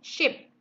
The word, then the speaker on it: ship: Nah, tapi kalau kapal, we say ship. Jadi I-nya pendek.